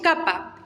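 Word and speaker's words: κάππα: se puede dibujar la capa minúscula la mayúscula es una K mayúscula nada más mayores complicaciones capa el sonido de K es decir siempre se fuerte K que kiku después seguimos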